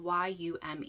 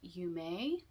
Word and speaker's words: Yume: viewer comment that um it's actually pronounced you may it's a I think